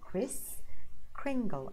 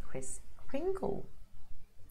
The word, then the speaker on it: Kris Kringle: so Kris as Christopher Kris Kringle as in Pringle so that's it Kris Kringle it's actively actually an